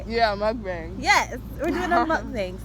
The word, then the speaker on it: mukbang: Yeah, mukbang.